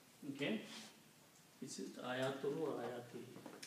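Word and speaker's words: آيَاتِهِ: Is it ayatuhu or ayatihi? Ayatihi.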